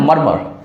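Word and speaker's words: murmur: इसके बाद है मर्मर, MURMER। इसको बुदबुदाना भी बोलते हैं, या बहुत धीमे कुछ कहना, बहुत धीरे से अगर कुछ कहते हैं तो उसको मर्मर कहा जाता है। इसमें R साइलेंट होते हैं।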